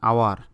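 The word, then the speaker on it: hour: যেমন আ হর্স and honest and আওয়ার. যেমন এখানে অনেস্টের এখানে স্বর অ এর মতো উচ্চারণ হয়েছে, এই জন্য অ্যান হয়েছে এইচ থাকা সত্ত্বেও.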